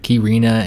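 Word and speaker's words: Quirina: be named has ever pronounced like kirina and bailina respectively our system requires grand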